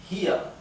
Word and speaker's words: hier: Ihr seid hier. Ihr seid hier. Fíjense que en alemán la R final tiene una pronunciación casi imperceptible.